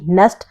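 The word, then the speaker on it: Knesset: इज़ a Congress B नेस्ट यहां पे के साइलेंट है।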